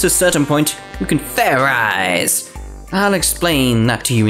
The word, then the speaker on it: Fairize: about is food idiot it's pronounced fair eyes there's no ice in it what does this fair